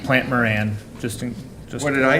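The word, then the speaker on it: Plante Moran: Just to clarify, I think it's pronounced Plant Moran.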